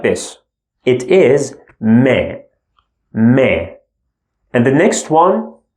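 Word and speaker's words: م: The next one looks like this, and we pronounce it Le, L sound. Then the following one looks like this. It is Me, Me.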